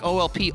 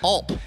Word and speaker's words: Olp: i am with alp did i get it right you did oh okay because it looks like olp ulp but it's alp it's a long o it's a german prussian